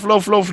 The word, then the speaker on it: loaf: Love. Loaf, not laugh.